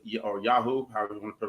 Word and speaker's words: Yoho: tokyo black is a porter made from the yuhu or yahoo however you want to pronounce it oh copyright but you y-o-h-o brewing company in nagano japan this is their